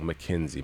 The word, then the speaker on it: McKinsey: McKinsey.